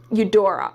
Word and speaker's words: Eudora: I dropped the card and her name is Eudora okay that's how you pronounce her name I just didn't want to